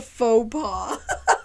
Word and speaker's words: faux pas: any kids I'm a fox paw what the fuck is that I think it's a faux pas f-a-u-x is is it f-a-u-x